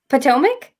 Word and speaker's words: Potomac: uh so i always i'm trying to say potomac there we go potomac so tell me about